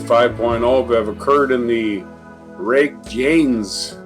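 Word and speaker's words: Reykjanes: have occurred in the rake Janes or rake yain Peninsula if the J is silent the home of the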